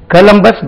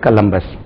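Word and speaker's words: Columbus: ஸ்லபல் பஸ்ஸ கலம்பஸ்டிவ America கலம்பஸ் discover அது கோலம்பஸ் கிடையாது கலம்பஸ் கலம்பஸ்டிவ அமெரிக்கா கலம்பஸ் அமெரிக்காவை கண்டுபிடித்தார் அமெரிக்கா கலம்பஸ்ால் கண்டுபிடிக்கப்பட்டது அமெரிக்கா வாஸ் டிஸ்கவர் பை கலம்பஸ் இப்போ ஆக்டிவ் வாய்ஸ் பாசிவ்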